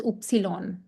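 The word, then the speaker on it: Ypsilon: This is not Y in German. This is called as oopsilon.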